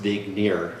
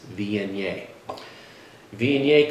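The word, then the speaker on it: Viognier: Mom if you watch this home it's not pronounced vigir it's vi vi come its birthplace would be the ran Valley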